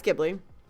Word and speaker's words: Ghibli: be bad because I never know how to pronounce the name, but I call it Studio Ghibli. Yeah, it's Ghibli.